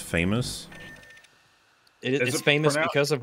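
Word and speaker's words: FAMAS: was a cool gun oh it's pronounced famous it is famous because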